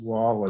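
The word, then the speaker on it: Roy: sudden death crazy pretty crazy you know patrick wah spelled roi but pronounced wall right um you know was perfect in overtimes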